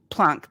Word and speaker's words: Planck: years earlier earlier Max Planck or Max Planck I always feel weird saying punk I feel like I'm faking the name but I think that's how you say it if you're German anyway flunk came up with